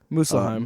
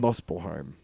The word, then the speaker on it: Muspelheim: But we should go down to, Muspelheim. Muspelheim. Look how it's spelled. Just because it's a U does not mean it has to be you.